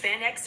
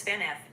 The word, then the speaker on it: Van Gogh: The pronunciation of Van Gogh varies. In English it is pronounced Van X or sometimes Van F, especially in the UK. It is also pronounced as Vano with a silent GH, especially in the US.